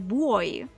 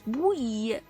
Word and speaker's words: buoy: like, in my head, it has always been boy. Like boy, but with a U in it. But no, it's buoy. Buoy. As if there's no O in it.